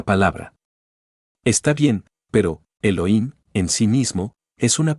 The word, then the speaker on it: Elohim: dioses Eso significa Elohim o mejor dijéramos Elohim porque la H se pronuncia como J estos Elohim como quiera